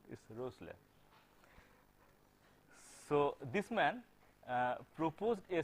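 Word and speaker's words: Rössler: This is the German pronunciation it's pronounced as the Rossler. You will have to make your mouth look like as if you are trying to pronounce o but you will actually pronounce e.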